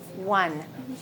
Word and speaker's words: won: It's won, won. Maybe you said won. That O is pronounced like this. Won, won.